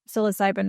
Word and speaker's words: psilocybin: So, and so why is like uh the mushrooms or is it psilocybin?